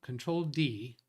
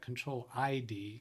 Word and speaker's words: Control D: service I use control control D I'm trying to pronounce that control ID because the L looks like an I has DNS 64 but